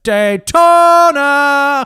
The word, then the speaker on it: Daytona: did you pronounce it Daytona I believe it's pronounced Daytona thank you oh yeah I don't remember if